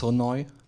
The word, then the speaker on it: Sonoj: it this is the Soni website so it's pronounced sooi in case you didn't know um and how